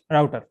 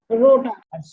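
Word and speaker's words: router: রাউটার। রোটার রোটার না, রাউটার।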